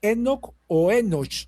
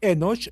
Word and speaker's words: Enoc: Él me decía que lo en la pronunciación correcta es Enosch. En la pronunciación latina Enoc.